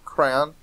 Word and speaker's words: crayon: How do you pronounce crayon? Crayon. Two syllables. Crayon. With two syllables where the second syllable rhymes with Don.